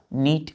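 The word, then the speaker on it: knit: है बच्चों साफ बोलते हैं ना साफ सुथरा नीट एंड क्लीन के एनआईटी नीट नीट मींस क्या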